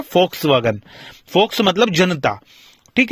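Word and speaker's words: Volkswagen: तो वोक्सजिस्ट मतलब फोक, आपने वोक्सवैगन सुना है, उसको वोक्सवैगन का जो सही प्रोनाउंसिएशन है वो है फोक्सवैगन।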